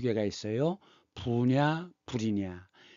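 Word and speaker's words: 不: 부냐 불이냐. 디귿과지 앞에서는 부. 나머지는 불.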